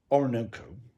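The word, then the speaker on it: Oroonoko: said Aphra Behn, and it is pronounced Orinoco, although as written is Orinoco.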